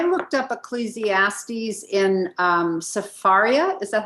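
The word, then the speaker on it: Sefaria: question because i looked up ecclesiastes in um safaria is that how you pronounce it yes and the way they re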